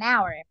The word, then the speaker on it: hour: The pronunciation is hour. Como que comenzara yo con la vocal.